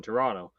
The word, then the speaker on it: Toronto: But he did pronounce that second T in Toronto. So yes, it's a little suspicious there. Toronto.